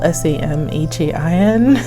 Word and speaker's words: Samhain: half of the year now it looks like it's spelled s-a-m-h-a-i-n but it's actually pronounced samhain it's considered to